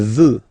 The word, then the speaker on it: veut: Il veut. Final T not pronounced.